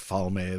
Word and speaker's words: Falme: I called it book Falme. That's the pronunciation.